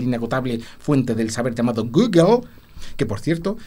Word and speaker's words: Google: Fuente del saber llamado Google que por cierto se escribe G o g l e deberíamos pronunciarlo Google pero decimos todos Google por qué Pero y y